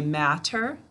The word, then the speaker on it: matter: All right, do we hear a t in the first syllable when I say matter? We don't hear this.